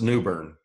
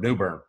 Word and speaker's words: New Bern: it's one word it's New Bern I'm trying to use two but they pronounce it as one word New Bern so we're New Bern